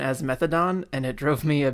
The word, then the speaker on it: methadone: I remember I had a teacher once pronounce the opioid methadone as methadone, and it drove me a bit mad.